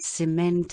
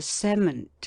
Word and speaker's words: cement: to outrun his discretion when the same word being a d syllable is both a noun and a verb the verb has mostly the accent on the latter and the noun on the former syllable as Molly let Hyman's